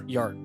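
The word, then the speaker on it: Björn: I feel like I'm saying it wrong. Am I saying it wrong? Bjorn. Is it Jörn? Yeah, that's closer, yeah. Jörn? It's the second one. It's closer. Jörn.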